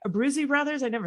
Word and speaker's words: Abbruzzese: Abbruzzese brothers?